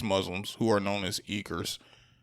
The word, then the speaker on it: Uyghur: who are known as Uyghurs. I could be pronouncing that wrong. Is it? Do y'all know Uyghurs? Uyghurs. That's what it is.